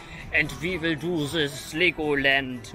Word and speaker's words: Legoland: Hello, my name is from Knopf your Coasters Korrektly, and we will do this Legoland now, or Legoland, as we would say in Germany.